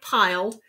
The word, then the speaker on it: piled: Before high piled books in charactery. Now see, that's only 9. That's why this little guy is here. This tells me that piled needs to be pronounced with 2 syllables.